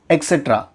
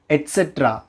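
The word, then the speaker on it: et cetera: அது என்ன அப்படின்னா எக்ஸெட்ரா. இடிசி. அதோட உண்மையான ஸ்பெல்லிங் கூட நம்ம நிறைய பேருக்கு தெரியாமல் இருக்கலாம். கண்டிப்பாக இருக்கும்னு நான் சொல்ல வரல. எக்ஸெட்ரா அப்படின்னு சொல்லுவோம். அதோட உண்மையான ப்ரொனன்சியேஷன் என்ன அப்படின்னா எட்ஸெட்ரா. எக்ஸெட்ரா கிடையாது, எட்ஸெட்ரா.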